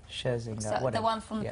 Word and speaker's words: Scherzinger: Tonight we've got, I kept saying her name wrong and that's really bad, Nicole Scherzinger. Scherzinger, so, the one from the Pussycat Dolls.